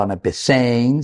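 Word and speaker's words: ἀναπεσεῖν: El verbo griego que utiliza es anapesein, pronunciado anapesein, significa recostarse, sentarse para comer, evocando la postura típica de los banquetes formales en el mundo antiguo.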